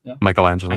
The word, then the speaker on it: Michelangelo: Michelangelo.